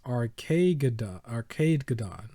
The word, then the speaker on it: Arcadegeddon: always mess it up so it's rk arcade gadon something like that right okay so like armageddon i think i said